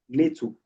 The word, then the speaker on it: NATO: But something like NATO, capital NATO, NATO, could be an acronym because it sounds like a word. You pronounce it as if it's a word.